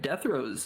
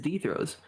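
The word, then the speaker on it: Dethro's: Now, a large portion of the community seems to think that Deathrows is actually the proper way to say it, and I have to disagree. I believe it is Dethrows. And no matter how much English logic you might throw at me, I'm going to disagree with you purely because I'm used to saying Dethrows.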